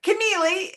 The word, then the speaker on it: Connealy: So, um, my name is Mary Connealy is how it's pronounced.